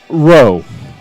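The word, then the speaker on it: Rheault: play for round number one so Dylan row row is spelled r h e a u LT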